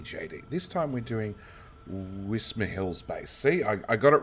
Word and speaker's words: Wismerhill: tour with me JT this time we're doing whisper Hills base see I got it right I took